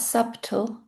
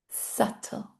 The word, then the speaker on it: subtle: subtle subtle Not subtle. subtle How do we pronounce this next one?